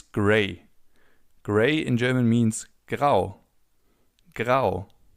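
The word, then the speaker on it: grau: Gray in German means grow. Grow. As you can see in German, if you have the letter A followed by a U, you have an O. So, it's pronounced as in.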